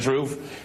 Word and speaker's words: truth: But I cannot stand people pronouncing th as f. I'm just got to call people out about that. Truth. It's truth. Truth. It really irritates me. And in Britain they do it all the time. Keefe. Keefe. It's pronounce the th.